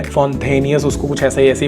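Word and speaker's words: Fontainhas: रास्ते में जो वो फोंटेनियस रोड है, फोंटेनियस उसको कुछ ऐसी प्रोनाउंसिएशन है, that is old Portugal vibe वहाँ पर आपको क्रिएटेड मिलेगी।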